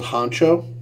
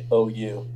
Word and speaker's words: Hangzhou: It's called Honcho. Hangzhou, so Hangzhou. Man, But pronounced Hangzhou.